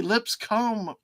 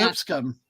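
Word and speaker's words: Lipscomb: I want to say lip comb fanatically gu lip Li oh my God but they call it lip scum yeah you just run it phonetically really fast and it's lip scum and you just oh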